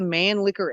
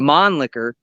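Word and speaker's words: Mannlicher: it now it it it shoots the man licker ammo or as as the the true pronunciation the mon licker and ammunition but it's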